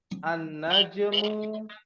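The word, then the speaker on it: النجم: Ja jauh sahih ya lihat annajm ah Ya kan ada dalam Surah annajm dan nunnya bertasdid Padahal kalau dihilangkan Alif lamnya nunnya enggak jadi tasdid kan najmun saja seperti itu disebut dengan huruf Syamsiah ya rakamnan dibaca sama-sama nomor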